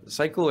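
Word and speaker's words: SYCL: from the Kronos group like uh cycle or sickle and not entirely sure how to pronounce it um do you know it's sickle yes okay yeah and that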